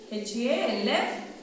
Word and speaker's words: half: H-A-L-F. Half. L silent.